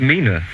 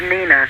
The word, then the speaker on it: Nina: bit jaded um and i believe mina is on the line i hope i pronounced your name right my name's nina nina yes oh right and